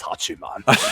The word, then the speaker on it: Hachiman: Hachiman. I say it like that because I always want to say Hachi-Man, but that's probably my New York in there.